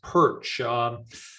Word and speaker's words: Pyrcz: you don't know me my name is pronounced perch that's the way we pronounce it after 100 years in canada i've been told by my ukrainian friends that we don't pronounce it correctly but that's the canadian pronunciation i guess i'm from